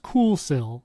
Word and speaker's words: Kuxiu: It's pronounced Coolsil, I promise, because I asked the brand and